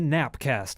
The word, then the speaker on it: GNAPcast: so we are the nap cast spelled with a G which is you know the G is silent but also so are